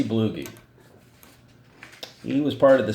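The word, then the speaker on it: Bluege: is Ozzie blue ghee I think that's a pronounce his name as he blew ghee he was part of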